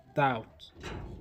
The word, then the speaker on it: doubt: Doubt, doubt with the letter B silent.